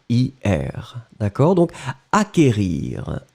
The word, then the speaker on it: acquérir: qu une accent aigu r ir d'accord donc acquérir acquérir le sait qu en fait vous ne prononcez pas vraiment de 2,2 vous n'allez pas